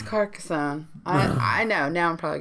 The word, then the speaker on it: Carcassonne: My number 1 is Carcassonne.